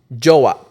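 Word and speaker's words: jowa: it more cringe right and it's joah and how would you spell that j o w a joah well it's not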